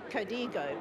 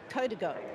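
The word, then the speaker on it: Código: So we were pronouncing it Codigo, but apparently it's Codigo.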